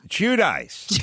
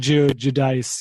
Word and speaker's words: Giudice: Oh, I have no idea, but I think it's pronounced Giudice or Giudice. Is it? Thank you. I knew you'd know. Giudice. Is that it? It is. Yeah. It's tough. They do they do the Italian Giudice.